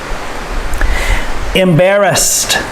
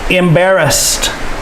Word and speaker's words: embarrassed: pressed peep pressed depressed embarrassed the ed makes the t sound here also embarrassed embarrassed to be embarrassed